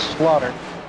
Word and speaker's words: Slaughter: Slaughter in the 14th I know it looks deceiving but it's slaughtered it's a it's a it's a long a um he is from